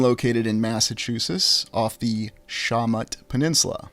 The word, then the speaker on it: Shawmut: Boston being located in Massachusetts off the Shawmut Peninsula. I've also heard it pronounced the Shamu Peninsula, although I think that was one of my colleagues just playing a joke on me.